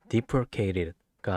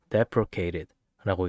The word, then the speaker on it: deprecated: 이 단어는 deprecated가 아닌 deprecated라고 읽습니다.